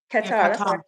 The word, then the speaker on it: Qatar: So, Kigali is partnering with Is it Is it pronounced Cutter? Or is it Qatar? Qatar.